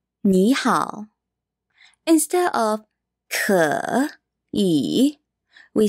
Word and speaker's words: 你好: When you see two third tones together,The first third tone becomes a second tone. Instead of saying 你好, we say 你好.